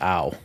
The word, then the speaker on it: Ao: With the AO chant when he's literally pronounced owl.